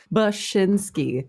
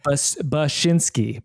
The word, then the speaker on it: Bachynski: Bachynski. Bachynski. Like the noise a sheep makes, and then like your shin, and then the sport. I don't know why my mouth has trouble with this. Bachynski.